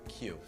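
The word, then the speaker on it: queue: It's also the only word that is pronounced the same. Andrew? Q.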